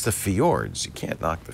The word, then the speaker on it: fjord: But it's the fjords. You can't knock the fjords. The fjords, I think, is how you pronounce it. Fjord. Yeah, because there's a J in it.